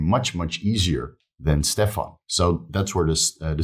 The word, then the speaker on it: Stefan: bit of an alias my real name is Stefan but when I came to Thailand nobody could nobody could pronounce it here right Stefan is a Dutch name so Steve is very American so when I came to Thailand nobody could pronounce my name they would say satephan which made my ears bleed yeah horrible made my